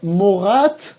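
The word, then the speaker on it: מורת: Y morá, shel y eladim, para esmijut femenina, es lo mismo que morat, y ojo, hay que pronunciar bien la T, morat y eladim.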